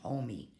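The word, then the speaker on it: homeo: in a second home it looks like home but it's pronounced homie just like your homies all right it means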